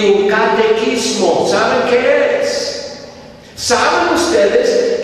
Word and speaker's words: catecismo: Empezamos con la Biblia y un catequismo. ¿Saben qué es? ¿Saben ustedes que es la palabra, verdad? Catequismo, así pronuncia. catecismo.